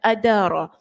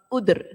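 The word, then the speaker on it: آدر: maka di sini kata dibaca dengan baris fathah pada tiga huruf terdepan adaara ada yang membacanya dengan mendammahkan huruf awal dan mensukunkan huruf Dal jadi bunyi udr kalau gitulah itu kita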